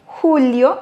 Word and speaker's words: julio: Julio, juillet. Alors, n'oubliez pas d'accentuer sur le U.